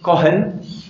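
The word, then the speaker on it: Cohen: el de un señor de apellido joven que se escribe c o h e n este señor que ustedes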